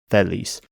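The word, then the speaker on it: θέλεις: The modern pronunciation is thelis, and what they're saying is more like theles. Titheles. So there are 2 differences. The first is that final syllable, instead of being e, is a. The second is that they change the accent. In modern Greek, the first syllable is stressed and the second is not. Thelis.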